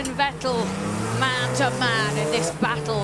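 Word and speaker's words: Vettel: It's Fettle, not Vetel like mineral water.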